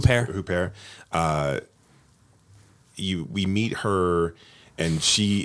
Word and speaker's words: Huppert: How do you pronounce her last name? Huppert.